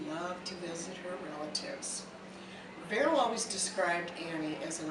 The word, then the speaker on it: Beryl: And I must add that my mother's name was Beryl, with a V, rhymes with Carol.